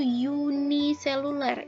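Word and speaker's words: uniseluler: ada makhluk hidup yang namanya itu yuni seluler ini bacanya yuni ya makhluk hidup yang tubuhnya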